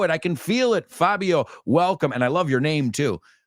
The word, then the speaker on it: Fabio: Fabio, welcome. And I love your name too. One of my best friends when I was growing up, his name was, well, we pronounced it Fabio, not Fabio.